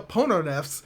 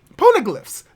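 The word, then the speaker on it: Poneglyph: some interesting developments involving the pornographs or the pono neffs i cannot pronounce this word out loud ponogirliffs ponoglyphs there we go i'm sorry that's going to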